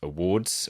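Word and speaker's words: Awwwards: So one of the main websites that I looked through was awards Yeah. with 3 W's. Awards. Awards. That is how it's pronounced.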